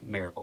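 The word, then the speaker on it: Maryville: It's three syllables. It's Marvel.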